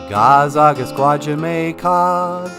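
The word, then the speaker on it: Gaa-zagaskwaajimekaag: Gazagasqua Jamaicog, Gazagasqua Jamaicog.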